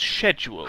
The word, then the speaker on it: schedule: uh is it no I think it's schedule schedule not schedule schle there is no K okay and schedule what